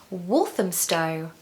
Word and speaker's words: Walthamstow: of London for an hour number seven is walthamstow walthamstow walthamstow now this is not such a